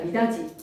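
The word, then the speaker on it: 미닫이: 미다디가 아니라 미다지.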